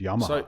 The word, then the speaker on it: llama: I like the llama one because in Spain and Latin American countries it's actually pronounced yama.